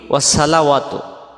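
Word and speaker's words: وَالصَّلَوَاتُ: তারপরে ওয়াসসালাওয়াতু, এই শব্দটা আমরা বলি কি ওয়াসসালাওয়াতু, ওয়াসসালাওয়াতু।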